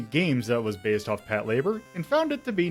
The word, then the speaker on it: Patlabor: fill a burr yes Pat labor and not Pat labore like I've been pronouncing every single time I've said it because